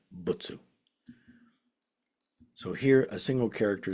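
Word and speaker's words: 仏: And here you see the single character for Buddha in SinoJapanese is very very often pronounced as butsu. So here a single character is being pronounced as butsu.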